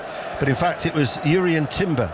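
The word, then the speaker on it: Jurriën Timber: in fact it was Yuri and Timber or durian Timber as we're told that he wants to be uh pronounced not Yuri and durian Timber the the Dutch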